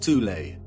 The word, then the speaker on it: Thule: called the soul society sometimes alternatively pronounced tulay that had sub-factions within